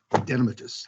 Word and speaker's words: adenomatous: took me 5 years to learn how to pronounce it correctly, Adenomatous polyposis coli. Adenomatous.